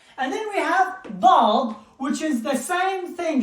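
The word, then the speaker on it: ض: It is called da. It goes from both sides of your jaw or of your mouth, and even the tongue is like weird way in the middle. It's very complicated to pronounce it, but it is da, do, like the light. So da is a very difficult letter.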